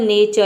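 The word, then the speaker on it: nature: आर ई चारों letter को मिलाकर हम चर प्रोनाउंस करते हैं। जैसे कि देखिए यहाँ पे देखते हैं एग्जाम्पल नेचर।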